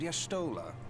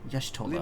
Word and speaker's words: Y'shtola: If I may, the lovely maiden beside me is named Y'shtola. Y'shtola.